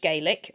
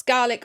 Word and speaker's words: Gaelic: is spelt like Irish Gaelic, but I'm reasonably confident that my pronunciation is more or less on with that one. It's pronounced Gaelic as opposed to the Irish, which is pronounced Gaelic.